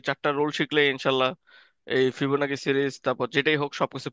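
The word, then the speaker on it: Fibonacci: এটাকে বলে ইংলিশে ফিবোনাকি। অনেক জায়গায় ফিবোনাচিও বলে।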